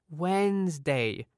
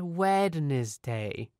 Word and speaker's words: Wednesday: it and she said listen how it's pronounced Wednesday not wedes day I ended up just